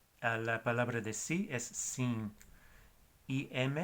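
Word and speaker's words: sim: Y la palabra de sí, o sea, sí, es S-I-M en portugués, sin.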